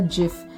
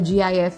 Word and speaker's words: GIF: is how to create a Jif or a gif which a lot of people say or a short a